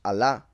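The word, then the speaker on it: אלה: There is another word in Hebrew, by the way, that it is also pronounced Allah, just like they pronounce the name of their Elohim in Islam.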